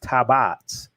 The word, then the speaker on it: tabot: our tabbots he said the tabots pronounced tabats are replicas of the